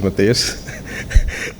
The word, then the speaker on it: Mattias: Mattias, but the real name is, pronunciation is Mattias.